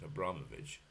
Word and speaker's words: Abramovich: And Abramovich, as we are supposed to pronounce it, Abramovich, is said to now